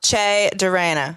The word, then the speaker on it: Che Durena: We have the one and only Che Durena. Did I say it right? Che, like a hard Che. C. Yeah, Che. yeah, there you go. Che Durena.